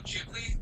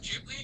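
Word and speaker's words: Ghibli: I call it Jibli just because that's what I've heard on a documentary I watched like 5 years ago, but I'm pretty sure it can go both ways.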